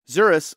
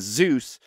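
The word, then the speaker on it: Zuras: eternals and thanos himself zuris often mispronounced by humans as zeus actually killed the she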